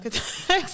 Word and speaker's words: cathexis: Cathexis. I went to see like how do you pronounce the word.